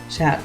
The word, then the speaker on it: chat: an interesting French fact chat in French is cat but the te is silent in French and Fizzy's like approve